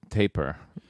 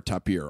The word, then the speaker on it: tapir: After the zoo visit in San Diego, I'd have to say the tapir. Yeah, is it tapir or tapir? I'm going to say it wrong. Tapir, like Kashmir?